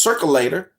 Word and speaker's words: circulator: Again, it's pronounced circulator. You can say it with me now because none of you ever run for shit. It's called circulator.